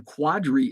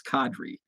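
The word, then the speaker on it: Qadry: rocket's name wrong but i think a lot of people called him quadri ishmael and i probably called him quadri ishmael early on but then then i think somebody said oh it's kadri qadri ishmael um in cadre if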